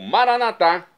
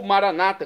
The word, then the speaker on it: Maranata: E agora eu clamo Maranatá, como dizemos nós católicos. Ou Maranata, como dizem nossos irmãos separados, os evangélicos ou protestantes. Não importa a pronúncia, o significado é o mesmo.